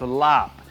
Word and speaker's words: larb: I got to be honest, you know, I don't love the name larb. In Thai, this would be pronounced lop. And you know, it's got a kind of a pizzazz when you say lop, but you know, the